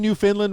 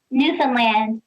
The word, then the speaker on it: Newfoundland: people in newfoundland that am i saying new finland right newfoundland newfoundland okay i guess i'm learning from the best i put the wrong and fastest on the wrong syllable new finn leonard fundland